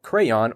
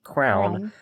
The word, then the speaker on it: crayon: Now, whether you correctly pronounce it crayon or incorrectly as crown, we can all agree